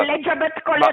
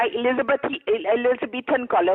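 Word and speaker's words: Elizabethan collar: एलिजाबेथ कॉलर नहीं होता, एलिजाबेथन कॉलर होता है। आपको तो प्रोनाउंस करना भी नहीं आता।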